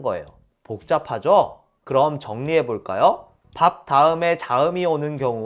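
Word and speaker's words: 밟다: 여기서 예외가 하나 나옵니다 리을 비은 원칙은 리을로 발음하지만 바다라는 단어만 예외적으로 비읍으로 발음해요 물론 뒤에 자음이 온다는 조건에서 밥다 나 밥고 같은 경우 뒤에 디귿 기억이라는 자음이 오죠 이런 경우에는 밥다 밥고 이렇게 비읍으로 발음해야 합니다 모음이 오는 경우엔 발바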